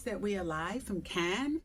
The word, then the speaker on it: Cannes: Proud to announce that we are live from K. People often mispronounce it as canes. It's K.